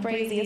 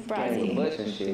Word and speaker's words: Brazi: No, it's not Brazy, it's Brazy.